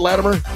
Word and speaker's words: Latimer: Did I say it right, Latimer? Yes. Latimer, I'm sorry.